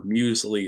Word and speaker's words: muesli: Mills medically its musics but I'm pretty sure muesli is the correct way to pronounce that cereal that I've never had and